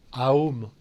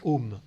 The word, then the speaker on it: Om: Ce son Om qui est un mantra qui peut être prononcé Aum ou Om, et là il faut le prononcer Om.